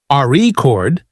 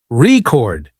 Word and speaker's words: record: For example, in the word record, if you stress the first syllable, RE chord, it's a noun, but if you stress the second syllable, record, it's a verb practicing stress.